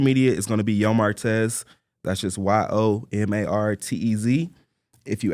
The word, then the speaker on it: Yo Martez: Okay, for anybody locally in Abilene, Texas, or surrounding area, Yo Martez, that's how you pronounce it, is the clothing store.